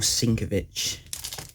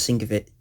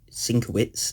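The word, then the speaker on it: Sienkiewicz: Frank Miller and Bill syncovich and thank you to the guy that corrected me on how to say his name you all right 100% right it's not sync of it sinker wits it's sinker beautiful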